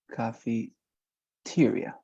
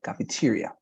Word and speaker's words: cafeteria: and finally cafeteria um when you for example pronounce this word is coffee tyria okay cafeteria with with I cafeteria but very good okay